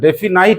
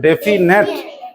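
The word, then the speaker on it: definite: ডেফিনাইট নয়। কি উচ্চারণ করবে? ডেফিনেট।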